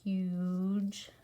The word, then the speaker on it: huge: How do we get a soft G in a long vowel word? Huge. It's a GE that works together to say J.